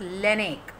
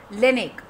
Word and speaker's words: Laennec: It is Rene Theophile Hyacinthe Laennec. Okay, quite is it difficult to pronounce? Rene Theophile Hyacinthe Laennec. Okay, he was a French physician who invented stethoscope. Rene Laennec.